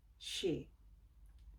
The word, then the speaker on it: she: Nah, ini yang agak sedikit susah karena di bahasa Indonesia kita kayaknya tidak punya huruf S dengan H together. So, pronunciation untuk ini agak sedikit susah. Tapi belajar terus, praktis terus, nanti pasti bisa. Oke, jadi itu bacanya she, she, she.